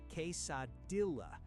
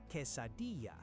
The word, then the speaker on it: quesadilla: Most English speakers say "case-a-dilla." This is wrong. The double L in Mexican Spanish is never a hard L sound. It sounds like a Y. Say "quesadilla."